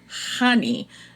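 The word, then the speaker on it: Chani: the audio book and they made a point of the book like to say that she pronounces her name honey and she was like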